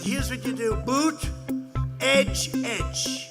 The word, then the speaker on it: Buttigieg: Boot, edge. Say edge like the edge of a building.